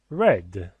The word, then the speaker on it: read: Read. Like a color. It is pronounced like red color.